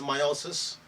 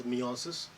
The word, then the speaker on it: meiosis: you pronounce it as so some pronounce it as meiosis some as meosis so this meiosis are